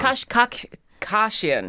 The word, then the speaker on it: Kashkashian: Kashkashian.